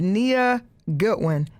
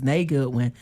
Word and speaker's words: Nay Goodwin: So our next shout out is Caked Up with Nia Goodwin. Caked Up. Nay, am I saying her name wrong? Her name is Nay Goodwin.